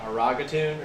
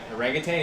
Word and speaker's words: orangutan: Kyle, like last week, said orangutan on stream, and he was like orangatoon or something like that. It's not spelled like a And he's like, I was like, orangutan?